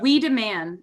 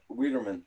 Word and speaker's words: Wiedemann: It's we demand. Apparently, we all said it wrong. Oh, we demand.